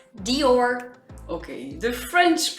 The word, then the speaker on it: Dior: It's Dior. Okay, the French pronunciation is Dior.